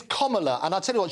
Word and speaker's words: Kamala: It's Kamala, and I'll tell you what, she spent a fortune, 2016, Kamala. Comma, as in the punctuation, and la at the end.